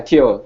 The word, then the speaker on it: Teo: Winston um Winston and and and am I pronouncing it right Teo yeah Tio it's correct cool well thank you for for